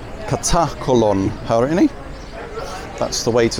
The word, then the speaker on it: Katakolon: And yeah, note the pronunciation. Katakolon, Harini.